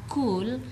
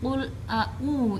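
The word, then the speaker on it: قل: Jadi diperhatikan lagi, ini bukan kul ya, bukan kul yang membacanya sampai mengeluarkan angin, tapi qul a'u.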